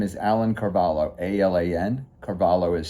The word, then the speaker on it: Carvalho: My name is Alan Carvalo. A Lan. Carvalo is spelled C A R V A L H O.